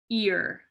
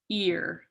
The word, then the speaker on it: ir: um here's our second lesson the word is ear okay it's spelled I it's pronounced ear okay this is not what the word means